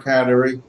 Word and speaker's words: Kateri: do you say that there's several ways to say C you can say CER or katerie either one works it's a it's a mohawk pronunciation of cine she was named